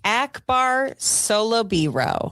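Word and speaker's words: Akbar Salubiro: Akbar Solobiro.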